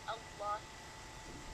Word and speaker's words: Allah: It says this means Allah. But in Arabic, the alif is silent because the lam after it, let's see if I can show you guys.